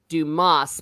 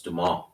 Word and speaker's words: Dumas: I call him Alexander Dumas, but I think maybe you don't pronounce the S because it's Yeah, French. it's Dumas.